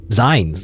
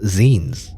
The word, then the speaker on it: zine: still you know I I used to think that zines were pronounce um signs you know apparently they're pronounced zines which makes no sense to me but like it's supposed to be like from the word magazine right I don't know we